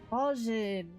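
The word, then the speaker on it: Bozjan: Bosnian. Bosnian, that's how you pronounce They it.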